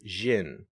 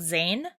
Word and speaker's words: Zin: Yes, which is pronounced in the later games as Jin. Jin. I should probably flag here that if you're playing the PSP version, he's called Zane.